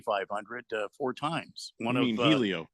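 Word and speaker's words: Hélio: four times one of Helio it's it's well it's you don't pronounce the h it's just kind of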